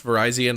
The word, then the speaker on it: Virizion: you pronounce it uh you pronounce Verizon like Verizon you just pronounce it like that yeah I mean people